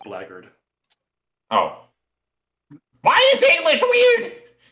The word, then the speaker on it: blackguard: Heads up, blackguard is just pronounced blackguard.